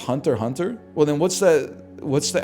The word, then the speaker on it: Hunter x Hunter: I've been calling it Hunter x Hunter for years, man. It's pronounced Hunter Hunter?